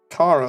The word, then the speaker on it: Chara: Found out from my friend who likes Undertale, Kara is apparently pronounced Kara, like charcoal.